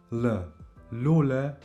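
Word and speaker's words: lule: The L is pronounced a little more soft in Albanian. I would say it's like an L L sound. Lula means flower.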